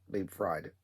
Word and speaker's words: Liebfried: Liebfried. It's the way it's spelled. It reminds me of fried.